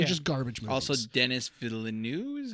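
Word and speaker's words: Denis Villeneuve: Also, Dennis Villeneuve is how you pronounce his name.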